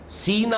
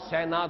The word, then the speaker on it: سینا: آیا ہے طور سینا، سینا اور سینا دونوں اس کے تلفظ ہیں۔ سینائی پیننسولا، آج کل